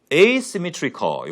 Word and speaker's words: asymmetrical: 걸 가지고 만들어 보면 asymmetrical 이게 symmetrical이라는 단어가 대칭인데요. 이 앞에 A라는 글자를 붙이고 발음도 A로 읽습니다.